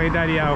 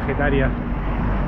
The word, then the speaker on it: Getaria: Che, llegamos a Getaria, o Getaria, creo que se pronuncia Getaria.